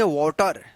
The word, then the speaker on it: water: वाटर सही इसका उच्चारण, लेकिन हम लोग गलत उच्चारण करते हैं वाटर।